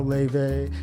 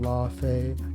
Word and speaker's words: Laufey: And if you don't know LAUFEY, she could also be called LAUFEY, LAUFEY. I think that's the Icelandic pronunciation.